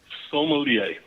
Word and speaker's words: sommelier: sommelier. Sommelier? Has 3 syllables.